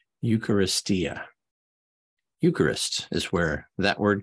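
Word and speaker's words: εὐχαριστία: look shall we eucharistia I'm sorry eucharistia was the proper way to pronounce that eucharistia Eucharist is where that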